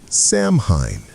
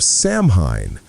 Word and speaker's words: Samhain: This moment was called Samhain, spelled S-A-M-H-A-I-N, but softly pronounced Samhain.